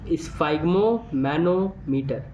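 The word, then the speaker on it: sphygmomanometer: जी एम ओ एम ए N metre मतलब स् फाइम मैनो मटर स्पेलिंग याद हो ना हो मतलब नहीं है बस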